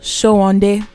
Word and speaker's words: Sowande: our screen called Cleo Sowande. She's supposed to be a Yoruba woman. That's how that surname is supposed to be pronounced.